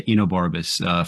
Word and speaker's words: Enobarbus: We're going to, am I pronouncing his name correctly? Yes. Enobarbus? Yeah, Enobarbus. For some reason, I thought there was a D in there.